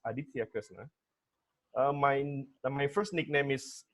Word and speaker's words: Aditya Kresna: me in 2070 okay my name is Krishna but the correct pronunciation is Aditya Krishna my my first nickname